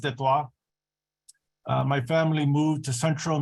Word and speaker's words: Detroit: I was born in Detroit, which is properly pronounced Detroit.